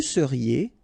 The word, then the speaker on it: seriez: Vous seriez, EZ at the end, et seriez.